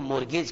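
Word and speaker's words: mortgage: तो मोरगेज करना स्पेलिंग जरा ध्यान से देखो बच्चों, एम ओ आर टी, अब आप क्या करते हो, टी बोलते नहीं हो, तो जी ए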